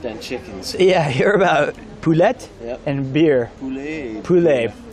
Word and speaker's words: poulet: Yeah, you're about poulet and beer. Poulet. See, you're not supposed to pronounce the T's.